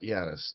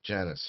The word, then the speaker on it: Janice: No, not Jiannis. Janice, you pronounced the J.